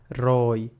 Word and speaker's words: Rồi: to talk about the word zo or you can pronounce like Roy in Vietnamese so are you ready